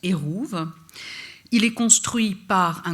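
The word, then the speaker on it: עירוב: mur c'est un erouve ça sortographie comme ça en hébreu ça se prononce Houve il est construit par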